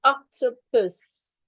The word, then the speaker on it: octopus: So I have 3 syllables. 1, ok, two, pus. So the question is, which one am I stressing? According to that rule, I'm stressing the first one. So my stress mark has to be before the first syllable.